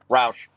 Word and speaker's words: Roush: Before we get to Drew Aller, Sam Roush or Roche, whatever you pronounce it. Roush.